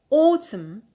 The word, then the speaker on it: autumn: is the noun autumn autumn stress on the penile because we have short vowel in the last syllable so we have applied